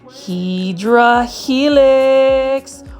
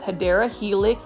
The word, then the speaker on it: Hedera helix: As you can see here, this is our favorite Hydra Helix. Or the correct way to say it is Hedera Helix, English Ivy.